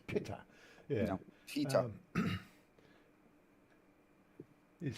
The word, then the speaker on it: Pita: Not Peter, it's Pitta.